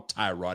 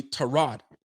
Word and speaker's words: Tyrod: I can't even call him Tyrod anymore because now pronunciations of these names are coming out. And Tyrod is really Trod.